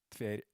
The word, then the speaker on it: Tver: Tver. So it's called, well, it's spelled TVER.